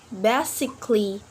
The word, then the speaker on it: basically: Letter A we not pronounce it when the word ends with ALLY. For example, romantically, basically, logically, musically. Yep, A before LLY we not pronounce the letter.